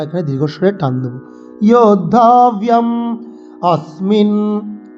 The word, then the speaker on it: अस्मिन्: যোদ্ধব্যম अस्मिन्, স্মিন, এই যে স আছে সহ, এইসব শব্দগুলোতে আমরা স দাঁতে লাগিয়ে সকে উচ্চারণ করব।